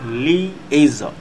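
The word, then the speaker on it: liaison: Viewers আমরা এখন চতুর্থ নাম্বার শব্দটি দেখতে পাচ্ছি, যার উচ্চারণ হচ্ছে লিয়েজন। আমি উচ্চারণটি লিখে দিচ্ছি, লিয়েজন। এইভাবে শব্দটি উচ্চারণ মনে রাখতে পারেন, লিয়েজন, অথবা আপনি মনে রাখতে পারেন লিয়াজন।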